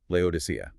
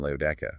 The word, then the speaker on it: Laodicea: But if you pronounce it in Greek, doesn't it also have that exact same ia sound at the end?